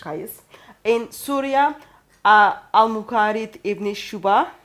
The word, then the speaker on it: Qais: For example, we know in Medina, Zayd bin Thabit, in Mecca, Abdullah bin Saib, in Basra, Amir ibn Abdul Quyas. Sorry for the pronunciation. Qais.